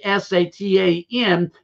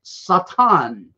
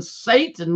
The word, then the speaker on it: Satan: origin, which is pronounced, which we say S-A-T-A-N, but it's actually pronounced in the Aramaic Satan. It's not even Satan like we say it in our English language or our English culture.